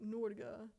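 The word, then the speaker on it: Norge: yeah the comments um you should say norga n how to spell that n o r g e go Norway n o r g e norga if you got to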